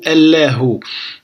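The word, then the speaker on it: الله: On a al-alifu et al-lam qui représentent l'article ici prononcé a. Après le lam avec al-fathatu la. Et après le ha avec al-dhammatu hu, allahu.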